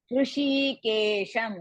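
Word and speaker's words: हृषीकेशम्: Muktva, ta is also half, va, eva muktva, Hrishikesham, because it's the end of the pada, we have to pronounce the makara.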